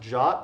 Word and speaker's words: JWT: right now so yes JWT is pronounced jot I'm not having a